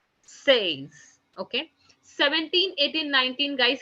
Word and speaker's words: seize: 16 is written down as SEIZE, which is being pronounced as says, says.